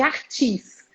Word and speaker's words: Arthus: A gente já tem tanto anticorpo que chama reação de imunocomplexo tipo 3, que é a reação de Artis. Se escreve ARTHUS.